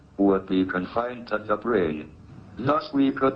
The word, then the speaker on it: brane: The answer may be that we live in a brain world. Your brain is spelled B-R-A-N-E.